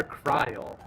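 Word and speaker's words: Krile: how they named her cryle rhymes with trial just like Hannibal and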